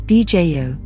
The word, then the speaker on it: Viseu: Locals pronounce asim as ashim, and also Viseu as bjo, for example.